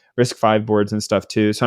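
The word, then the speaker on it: RISC-V: new risk five boards or risk V I don't know actually how you say it but I think it's five yeah is it five okay risk five boards and stuff too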